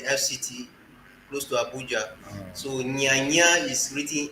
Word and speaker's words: Nya: and then you have the n y combination and it is pronounced near I don't want